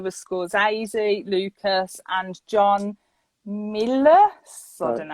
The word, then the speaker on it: Milius: There was Scorsese, Lucas, and John Milius.